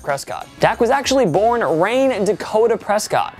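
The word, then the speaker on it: Rayne: Dak was actually born Rain Dakota Prescott, and yes, you say it like rain.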